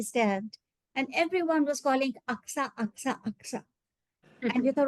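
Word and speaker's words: Agassaim: It may be spelled Agasim, but it's pronounced as Aksa.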